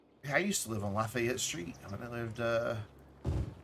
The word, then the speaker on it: Lafayette: And it always cracked me up to hear somebody who wasn't from the South pronounce it because they called it Lafayette, which is not right.